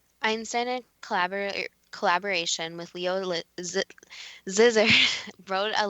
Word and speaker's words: Szilard: Leo Szilard, Dad, you'll have to pronounce that too because I'm butchering it. Szilard.